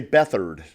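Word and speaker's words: Beathard: the San Francisco quarterback they uh they pronounce it differently but his name is CJ beat hard no way but they say bethard but what's it spelled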